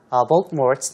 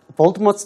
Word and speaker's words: Voldemort: The name should be pronounced Voldemort, not Voldemort. 발음이 Voldemort라고 발음해야지 T를 써서 Voldemort라고 하면 안 된다고 Rowling said on Twitter.